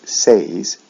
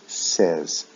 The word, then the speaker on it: says: form we don't say says we say says short e sound the last one is